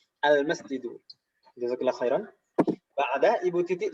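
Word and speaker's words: المسجد: Al-nya jelas dan tanpa tanwin. Al-masjidu.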